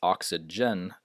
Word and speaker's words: oxygen: is Major and majority and and some might pronounce these words with a G sound but it's oxygen hydrogen digital not digital uh agenda not agenda